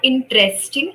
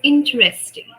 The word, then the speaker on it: interesting: It's not interesting, it's interesting. Interest. Interesting. Yes. Okay. So tr sound will not come.